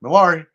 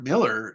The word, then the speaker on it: Millar: Now, I know everybody usually calls him Mark Millar. It's Mark Miller. He's Scottish. He's allowed to say his name however he wants.